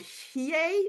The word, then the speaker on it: Hiei: Justin, Also, well, our trip, Suzanne, Justin, and I were on in October, went to Mount Hiei. Is that how we pronounce it, Justin?